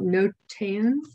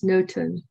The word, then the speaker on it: Notan: If you do a Google search for that, Notan, some people, I used to call it Notan, but when I looked it up for how to pronounce it, it's Notan.